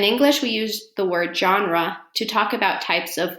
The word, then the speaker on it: genre: into genres the word genre comes from the french word which is also pronounced genre with a soft g or j sound z genre and it just means